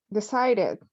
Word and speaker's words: decided: What is this pronunciation in the past? Decided.